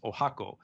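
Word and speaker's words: 十八番: number with the kanji for 18 so it's pronounced Oaxaca but it is written with with 18 and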